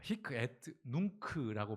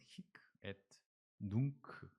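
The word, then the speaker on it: hic et nunc: 아, 히크트 눈크라고 발음을 한다고 합니다. 네. 여러 발음을 찾아봤는데 우리에게 가장 익숙할 수 있는 건 히크에 눈크 예 우리말로 히크는 여기깁니다.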